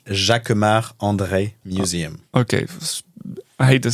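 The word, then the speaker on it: Jacquemart-André: Let's get the pronunciation right. Jacquemart. Jacquemart André. Jacquemart André.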